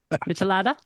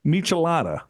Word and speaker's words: michelada: in 64 drink of choice is a maalala melada melada melada is what it's called a melada I wouldn't even know how to pronounce that yeah that's like tomato juice and